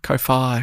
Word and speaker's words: Ko-fi: It's probably coffee. You seen that? Oh, that makes more sense. Oh, Ko-Fi. Ko-Fi.